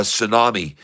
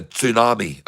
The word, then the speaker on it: tsunami: I said tsunami because the T has to be pronounced a little bit. It's not a tsunami. It's not a tsunami. It's a tsunami.